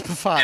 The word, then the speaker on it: Pfaadt: You don't pronounce the P. It's Pfaadt.